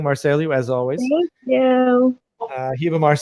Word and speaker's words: Ribamar: At the end, it's regional. So here it would be Hibamar. In the south, it's Hibamar. In some places, it's Hibamar. So it depends. But at the beginning, it's always.